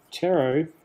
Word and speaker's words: Pteroducktyl: Pteroducktyl. So the P is silent.